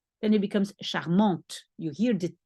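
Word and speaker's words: charmante: you say charm but if we put an extra e for the feminine then it becomes charmont you hear the T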